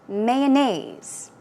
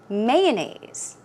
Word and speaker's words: mayonnaise: Here, mayonnaise. Mayonnaise. Or mayonnaise. I say mayonnaise. So I put stress on the first syllable.